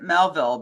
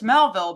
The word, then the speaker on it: Melville: I always pronounced it Melville because he named himself after the author Melville right the American author Melville but I've heard people pronounce it m m and I just think no it's Melville because he named himself